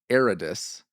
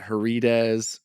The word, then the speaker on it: Aridus: I'm glad that you're happy to be here, but just so he doesn't have to say it, his name is pronounced Aridus, not Herides or anything like it's Aridus.